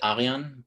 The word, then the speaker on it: Aryan: your name actually um i pronounced it aryan but i'm totally cool in the english english language to just live slow and make call it aryan yeah i would try